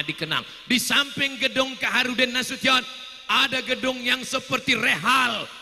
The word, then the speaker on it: Nasution: Nasution, cara bacanya Nasution. Karena ada orang naik pesawat sampai di airport transit dipanggil namanya orang metu. Kenapa? Dia salah dengar waktu dipanggil Nasution.